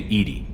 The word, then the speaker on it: EDI: airlock is a jar why are you named Edie Ed D is the phonetic pronunciation of e d that is an acronym